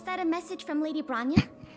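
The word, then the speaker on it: Bronya: Was that a message from Lady Branya? It's not. That's how you pronounce it.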